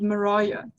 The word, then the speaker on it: Mariah: And the main character is called Mariah, with a hard I. And this is something that they mention a lot throughout the book because her name rhymes with pariah, which is very symbolic of the character.